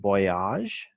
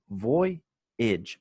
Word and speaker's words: voyage: There was a pronunciation error with maiden voyage. He said voyage. It's voyage.